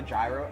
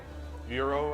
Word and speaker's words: gyro: Euro, I think it's pronounced. Gyro. I'm so ignorant. Gyro. I'm pretty sure I called it gyro all through the video.